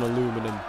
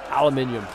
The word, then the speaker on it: aluminium: Imagine if there was an aluminum. Aluminum, and why am I thinking like that? It's aluminium. Spend 1 week in America, and apparently that's enough to start saying it how they say it.